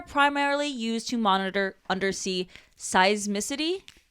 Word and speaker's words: seismicity: used to monitor undersea seismicity. Is that how you say it? Yes, like seismic.